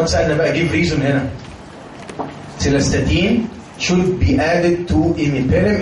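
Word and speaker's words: cilastatin: دواء هيتحفظ بقى ان شاء الله اسمه سيلاستاتين او سيلاستاتين، يعني للناس اللي بتحب النطق المدلع يعني. بس احنا بنحب النطق الايه الفخيم، سيلاستاتين كده يعني.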